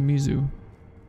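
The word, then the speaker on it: 水: That means water, but has nothing to indicate it's pronounced mizu.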